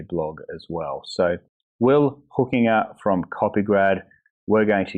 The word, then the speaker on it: Hoekenga: But yeah, you nailed it, Hoekenga. So excellent work. Thank you. Because you got on your website how to pronounce it, and you say it's Hoekenga, like hooking a fish.